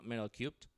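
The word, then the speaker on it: Metal3: go go - metal 3 dot IO metal-free pronounced metal cubed and if you want and this is in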